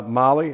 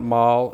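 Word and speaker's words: MAHLE: blades and then uh Molly that's a mly air that's how it's pronounced by the way it's not mal it's Molly okay and um this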